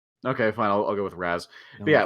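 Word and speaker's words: Ra's: this out are wrong it's ray chalgool in possibly the comics and like game interpretations but when you have the characters the comics this is this is the thing shut up in the movies all the characters referred to as raz so it would be wrong to call him race in the movies because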